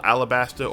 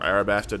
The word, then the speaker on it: Alabasta: Zero, leader of Baroque Works, far more as they dive into the full Alabasta or Arabasta, depending on how you want to pronounce it, arc.